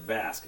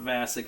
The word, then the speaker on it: Dan Vasc: name of Dan vasque yes I said vasque not vasic I know I mispronounce